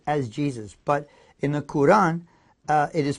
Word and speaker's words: Quran: a L AM Islam and it's not the Quran it's pronounced Quran the Quran phonetically spelled Qur - a in